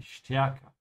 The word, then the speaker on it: stärker: Sehr gut, but make sure to pronounce the ST like a sh, yeah? Because the S comes before it, die stärker.